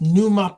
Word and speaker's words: Pneuma: So, um, my the quickest way to find me if you want is NUMA podcast, which is spelled as, uh, Papa November Echo Uniform Mike Alpha and podcast, NUMA podcast as in pneumatic.